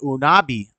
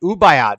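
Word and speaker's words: Ubaid: so we got this then we got the unabi the or ubayad my bad I said it wrong the ubayat figurine the lizard people figurines pre-summerian dated uh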